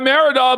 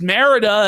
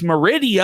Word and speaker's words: Merida: But I guess not, because Jer was embarrassed that he pronounced Merida as Meridia.